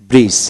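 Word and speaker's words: bridge: যেমন বি আর আই ডি জি ব্রিজ, এখানে ডি উচ্চারিত হবে না, বি আর আই জিই ব্রিজ।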